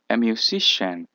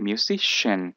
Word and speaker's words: musician: a mus mus y aquí esto se va a pronunciar como una sh sh musician y se va a acentuar el Stress que dicen en inglés iría en en esta primera y sería musician número s an artist